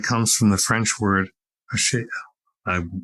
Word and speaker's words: achèvement: It comes from the French word achèvement. I will pronounce it properly.